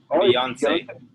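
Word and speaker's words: Beyoncé: nice all right look don't don't say beyonce say beyonce three syllables beyonce yeah like french say beyonce all right andres what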